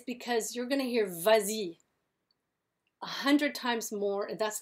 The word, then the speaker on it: vas-y: It would sound really awful to go va-i, va-i. It doesn't sound good. Vas-y sounds good.